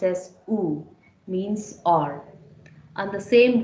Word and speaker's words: ou: The word oo, ou, pronounced as oo, means or. And the same word pronounced oo, but you could see an accent above the vowel u, right?